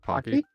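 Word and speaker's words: Paqui: Uh, a uh the I don't know how to pronounce this, but it's spelled P A Q UI. I think that's the brand of chip. It's Pocky. Pocky, thank you.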